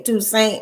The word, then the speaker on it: Toussaint: Kenneth Toussaint. He used to say Toussaint, and I say, man, your name is Toussaint. He was like, how you gonna tell me how to pronounce my own name? It's Toussaint.